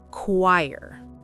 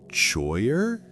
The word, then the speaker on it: choir: Choyer. No. A lot of people say choyer because they see ch and think it should sound like church or chair.